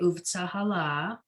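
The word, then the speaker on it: ובצהלה: Ura-ahala. Okay, and so here the emphasis is on the la on the last syllable because we have that double vowel going on under the hey. Okay, uvtsahala.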